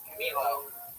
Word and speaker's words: Camilo: You said it right. Camilo.